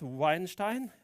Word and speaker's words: Weinstein: Kenneth Weinstein. Am I saying it correctly? Perfect.